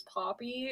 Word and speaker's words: Poppi: This is a thing known as Poppy. It's spelled Poppi.